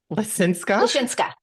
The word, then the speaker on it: Lisinska: friend Natalie how do you say your name linsa linsa okay Natalie linsa where's that from like